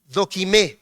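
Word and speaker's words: δοκιμή: la repetimos Cuál es doim el acento es al final de la e y esa se escribe con k dequ doim pero también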